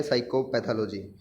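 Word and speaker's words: psychopathology: ठीक है आगे है साइकोपैथोलॉजी साइकोपैथोलॉजी होता है मेंटल डिसऑर्डर्स की स्टडी अब प्रोनंसिएशन से ही हम इसकी स्पेलिंग को इजली फाइंड कर सकते हैं अब साइको होगा यहां पर पी साइलेंट है सो पी आएगा पहले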